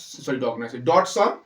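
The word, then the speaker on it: Dodgson: Charles ডসন ঠিক আছে Charles ডসন বানানটা হচ্ছে সি এইচ এ আর S Charles D ওডি এস ওটা সাইলেন্ট নলে এখন ডন বানিয়ে অন্য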